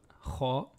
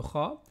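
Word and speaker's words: خ: Pour le kha, l'air circule librement, tandis que pour le ra, l'air reste bloqué pour une bonne partie au niveau de la gorge.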